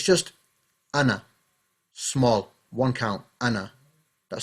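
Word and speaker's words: أنا: Uthmani script as well, it means you don't pronounce the alif. So you won't say Ana. You're not going to say Ana. It's just Ana.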